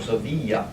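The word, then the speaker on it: Sevilla: aware of in Spain is Seville or so be young if you're speaking Spanish okay then over here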